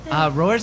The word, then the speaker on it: Roar: How do you pronounce it? That was Roar.